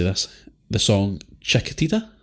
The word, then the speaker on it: Chiquitita: This is when, I'm going to try and say this, the song Chiquitita? How do you say this? You got it. Chiquitita.